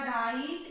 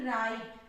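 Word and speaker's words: right: जब भी IGST आपको साथ में दिखे तो इसको हमेशा टी ही प्रोनाउंस होगा और GH का कोई प्रोनाउंसिएशन नहीं होता है, ये साइलेंट वर्ड है यहाँ पे।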